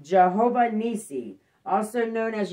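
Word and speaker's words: Jehovah Nissi: is deuteronomy 20 3-4 ephesians 6 10-18 is pronounced jehovah nisi also known as yahweh nisi name of the altar built by moses after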